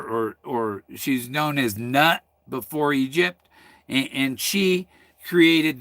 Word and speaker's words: Nut: egyptian goddess hathor or nut knew some people say newt because they don't want to say not but it's spelled nut and uh so okay